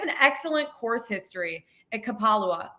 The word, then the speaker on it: Kapalua: And he has an excellent course history at Kapalua. Did I say that right? Kapalua. Thank you. Wrong emphasis on the wrong syllable. On the wrong vowel.